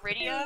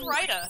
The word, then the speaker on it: Rydia: Like, growing up, you know, Final Fantasy IV Rydia? I said Rida for 20 years. Still say Rida sometimes. It's like, no, don't put that card in.